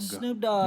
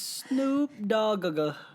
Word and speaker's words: Snoop Dogg: It's pronounced dog. Snoop Dogg. You know, The that- second G is silent, or the first G is silent. What? No, they're both not silent. It's Snoop Dogg.